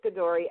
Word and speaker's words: CaDori: now we're going to get right to it godori I am I saying your name right that's